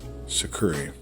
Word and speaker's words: tsukuri: And those 4 parts are kumikata, kazushi, sakuri, and kake. It's kumikata, kazushi, sakuri, and kake. You spell kumikata Kumikata. Kazushi is spelled Kuzishi.